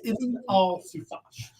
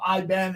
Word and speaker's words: Ibn al-Zufash: I've had friends that have served in the military that speak Arabic that have said that is how that would be pronounced. His name is Ibn al-Zufash. And I know someone's going to call him Iben, and it's going to be...